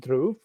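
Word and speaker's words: Dhrub: that's how you spell my name is d-h-r-u-b pronounced dhruv but I'm not that picky with the pronunciation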